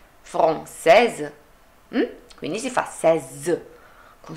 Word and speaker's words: française: Quindi, française. Qual è la differenza tra français, française? Che nella pronuncia dovrò fare al femminile la S. Sentite? Français, française.